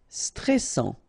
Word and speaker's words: stressant: Stressant, okay, final T not pronounced, and then A-N, en, stressant.